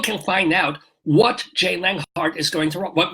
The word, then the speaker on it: Leonhart: Well, people can find out what Jay Leonhart is going to write, what music he will have, and what Ari Melber will do.